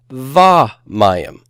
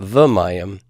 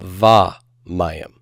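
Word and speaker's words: וָמַיִם: Not v mayim, but va mayim. Accented syllable immediately following. This happens not only with the conjunction vav, but you will see it from time to time with some of the inseparable prepositions too. If the inseparable preposition is immediately followed by an accented syllable, then that vocal sheva could become a long A, a kametz.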